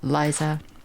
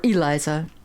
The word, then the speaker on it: Eliza: Ever your faithful friend, Liza or Eliza, I should say, cuz there's an e there.